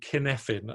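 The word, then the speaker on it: Cynefin: referring to so that model is called kin effin and I'm going to write it in the chat because it's a Welsh word so it's spelt strangely so is everyone right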